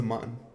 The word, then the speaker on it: Mun: There is no the moon. There's the mun. It's not pronounced moon.